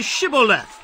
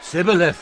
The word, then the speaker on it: Shibboleth: If he said no, then they would say to him, Then say Shibboleth. And he would say, Sibboleth, for he could not pronounce it right.